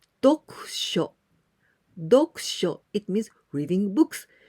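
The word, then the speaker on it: 読書: Together we pronounce dokusho.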